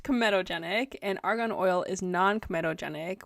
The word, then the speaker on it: comedogenic: So it's pronounced comedogenic, and argan oil is non-comedogenic, which means that it shouldn't block your pores.